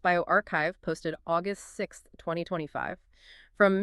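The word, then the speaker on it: bioRxiv: It's on bioherve that's pronounced bioarchchive posted August 6th 2025 from Mishra Kim Yom and colleagues at Yale School of Medicine.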